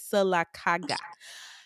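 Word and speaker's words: Sylacauga: town in Alabama called silaga um don't mispronounce our our stuff all right it's silaga can you tell us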